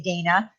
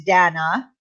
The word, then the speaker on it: Dana: remember it's Dana, not Right. Dana. But she Yep. also put it out there that Dana and it rhymes with banana, which made it easier for people to get that in their head.